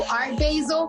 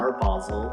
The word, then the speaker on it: Art Basel: - He hired me to do Art basil. How do you say that? Art Basel. - Art Basel. - Can you imagine if I would have said art basil?